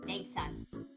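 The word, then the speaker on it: Nate-san: Just say Nate San. Just try your best to say San before you pronounce the T. Nate San. Yeah, like that. Nate San, just silent T.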